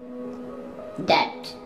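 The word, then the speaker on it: debt: डेट, यहाँ पे भी बी साइलेंट है, डेट, डेट के मैनी है कर्ज।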